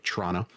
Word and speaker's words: Toronto: Toronto, Ontario, and yes, I know I pronounced it wrong. I just wanted to be very clear for our friends who don't pronounce it the proper way, Toronto.